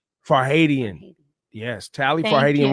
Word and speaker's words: Farhadian: a hottie and wine steamer and am i pronouncing for heidi and wright farhadian for haitian yes tally for haiti and weinstein uh worked